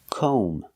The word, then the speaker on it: comb: and stop Cal we have to use the long o sound like no and go we pronounce this word com o make the long o sound com and remember the B is silent don't pronounce the B comb so comb is the